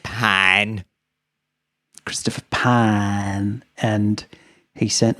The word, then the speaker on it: Pyne: It's pronounced Pyne.